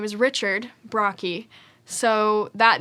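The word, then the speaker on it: Brocchi: name my last name is brocky which is spelled b-r-o-c-c-h-i uh so most people cannot sound it out um you'd be surprised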